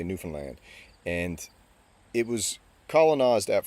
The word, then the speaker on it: Newfoundland: It's called Newfoundland, and that's how you pronounce it. Newfoundland is what people say. We say Newfoundland, and it was colonized at first by the Vikings, Leif Erikson.